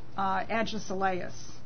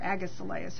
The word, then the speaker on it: Agesilaus: Uh Agesilaus or Agisilaus, however it would be pronounced I guess Agisilaus I guess it would be pronounced.